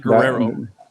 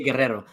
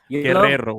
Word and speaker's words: Guerrero: I don't like Guerrero. No. You got to say Guerrero. Guerrero. When the newscasters are Hispanic and they pronounce their own names extra Hispanic, they put extra rolls in the R's.